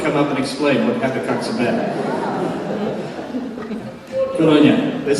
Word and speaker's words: Habakkuk: Nobody really knows, but since I can remember, I've heard people say Habakkuk, so I'm not going to try and change now to Habakkuk.